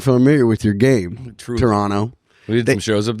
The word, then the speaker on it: Toronto: And you have to say it like this when they're there. They go, "It's Toronto." They were saying that. Toronto. And I go, then spell it differently. I pronounce T's are hard, meaning I'm not swallowing that.